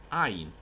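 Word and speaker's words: עין: 这是 Sameh，接下来是这一组最后一个，叫做 Ain， Ain， Ain，怎么写？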